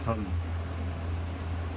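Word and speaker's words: thumb: जैसे ले लिए हम लोग थम। इसको थंब नहीं थम पढ़ा जाता है।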